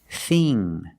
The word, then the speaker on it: thing: The dictionary shows the word thin with the same pronunciation as thing and think, but they are different. Thin, thin, is a short I sound. Thin. Like this is. This is thin. But with ing and ink, we use the long E sound, like green beans. Thing and think.